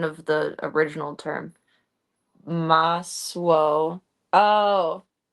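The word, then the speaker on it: masło: Maswo. Oh, the S and the L with a line in it make a swo sound.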